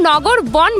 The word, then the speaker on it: নগরবন: তো উচ্চারণটা কিন্তু নগরবন বলা হচ্ছে। জেনারেলি VAN আমরা ভ্যান বলি, কিন্তু জানি না এখানে নগরবনই বলা হচ্ছে।